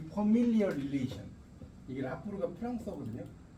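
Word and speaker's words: rapport: 이게 이제 그 퍼미디얼 릴레이션이라는 건데 이 퍼밀리얼 릴레이션 이게 라포르가 프랑스어거든요. 이 라포르 T가 이게 프랑스어에서도 재밌는 게요. 끝에 이 T가 나올 때 모음 다음에 T가 나오면 발음이 안 되는 거 아세요? 우리가 피에로 할 때 P-I-E 이게 프랑스어가 피에로 있죠.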